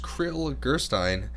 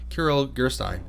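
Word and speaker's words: Kirill Gerstein: popular pieces in the repertoire but the pianist crittle gerstein as inquisitive as he is talented argues that start carol i mispronounced his name Kiril gerstein as inquisitive as he is talented argues that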